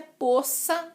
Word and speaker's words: poça: Poça. O correto é poça d'água, mas até aceito poça, com O aberto.